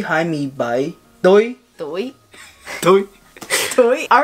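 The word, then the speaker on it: Tôi: Toy.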